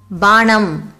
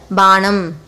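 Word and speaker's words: பானம்: For the noun drink, banam, pa, a long sound letter. While speaking, pa may also sound as ba in some words.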